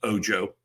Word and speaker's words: Ojo: know that Felix, his last name would be pronounced Ojo.